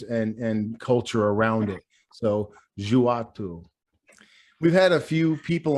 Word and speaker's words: Djoua: Djoua 101. I know that's not the way the word looks, but that's how you pronounce it in Arabic. It is Arabic for undo.